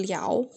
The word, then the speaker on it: 了: tertawa jangan menertawakan dia kita bacanya Le ya kalau nyanyi baru Liu Oke kalau baca dia Le tapi kalau kata nyanyiin kita pakainya Li jadi Tunggu saat aku